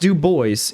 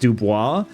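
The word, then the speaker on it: Du Bois: It's pronounced Duboce even though it is a French name and it is probably supposed to be pronounced Dubois but the American pronunciation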